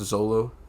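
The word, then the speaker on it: Xolo: The acting, I believe his name is pronounced Zolo, the guy who plays Blue Beetle.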